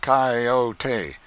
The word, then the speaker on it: coyote: rightly this latter was the regular coyote pronounced cayote of the farther deserts